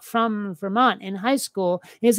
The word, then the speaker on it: Vermont: What little of my Vermont accent I retain is not pronouncing my T's, right? Because it's not Vermont, it's Vermont, right?